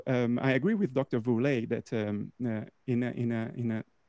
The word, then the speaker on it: Woerlee: i've been pronouncing your name wrong is it voulez if you want to say it in english okay all right yep just whirly just whirly okay um so we do actually